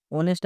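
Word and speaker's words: honest: অনেস্ট আছে। এই silent থাকছে সেজন্য কি বুঝবে? এন্ড বসে যাবে।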